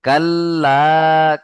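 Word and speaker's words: كلا: দেখেন কাল্লা, কাফ লাম জবর কাল, লাম আলিফ জবর লা, এক আলিফ টান হবে।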